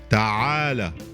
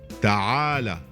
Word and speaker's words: تعالى: The word is pronounced ta'ala, ta'ala, ta'ala.